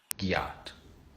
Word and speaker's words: gyatt: It's a phonetic spelling of a pronunciation of god damn. Like if you saw something you went gyatt damn.